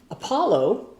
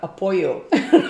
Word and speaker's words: Apollo: but she was and the word Apollo was in we all had this little books and she said something about apoo like um wrong culture she makes it